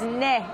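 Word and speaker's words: ναι: Yes in Greek is ne, N-A-I, and you see those in a lot of the bus stations as well.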